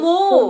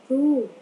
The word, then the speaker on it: move: Chữ này đọc là move. Tớ chứ tiếng Anh mà con đọc y chang tiếng Việt vậy hả? Chữ đó con đọc là chữ mo hả? Mo ve hả?